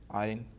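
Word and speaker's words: ع: The 2 letters in set 4, one is ayn, Yes. and the other one is hamza. Yes. So in pronunciation, the other one is, the ayn is pronounced basically from the throat.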